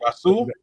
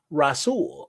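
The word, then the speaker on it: Rahsul: Rashul. Rash Faison. All right. So he's uh number 372 on here. Rasool. The H is the H is silent. Silent. My bad. Rasool.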